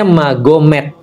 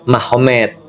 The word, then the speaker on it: Magomed: sana Muhammad jadi mahomed jadi tulisnya magomed Tapi bacanya mahomed kan gitu kan Ya jadi